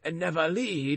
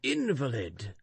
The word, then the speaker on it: invalid: For instance, they say nevalid instead of invalid."